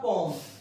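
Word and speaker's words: poem: ऑल the lines of English पोम, ये पोएम नहीं है, इसका प्रोनाउंसिएशन होता है पोम, माइंड इट।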